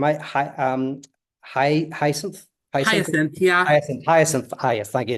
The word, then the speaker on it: Hyacinth: Hyacinth. Yes, thank you. It's want to know how to pronounce it correctly.